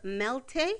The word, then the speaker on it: Melté: But at this point in her path, she is the owner of Melté. Is that how you pronounce it? Melté.